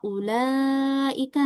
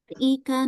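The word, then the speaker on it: أولئك: Ini contohnya yang pertama di kata ulaika ya misalnya gini bacanya ulaika. Nah, itu harusnya dibaca 4 sampai lima harakat aja. Tapi karena kita mainin nadanya ika. Nah, itu jadi dibacanya lebih panjang dari 4 sampai 5 harakat. Itu yang salah ya.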